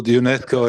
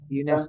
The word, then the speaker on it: UNESCO: Yeah, Prabhu, UNESCO is fine. That's the way it's pronounced. Sorry. Okay, cool, thanks. UNESCO.